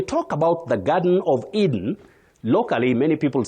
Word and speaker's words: Eden: As a name you say E. You begin with E. The long sound E. Eden, Eden, the garden of Eden or Eden. You can say Eden.